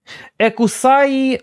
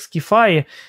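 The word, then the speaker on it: Σκύθαι: каже О ні значить екусаї Ну екусаї значить скісай скіфай скіфаї Перепрошую Воно читається як скіфаї омнімеокульпа моя давньогрецька дуже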